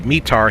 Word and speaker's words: METAR: So let's go for the METAR here. I never really know how to say it, META or METAR. I say it both ways.